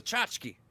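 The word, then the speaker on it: tchotchke: All right, so tell me how to pronounce this word. Oh, it's a chachki.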